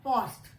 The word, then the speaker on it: post: जो O होता है, it is post, it is not post. ठीक है? So see the difference. Similar spelling, COST, LOST, POST. These two have same sound, same pronunciation. This has a different pronunciation. Cost, lost, post. We do not say post. We say post.